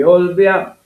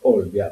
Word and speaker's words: Olbia: Negli anni 30 il fascismo ripristinò Olbia, ma con accento sulla o. Prima ha detti Olbia, Olbia, poi è diventato Olbia.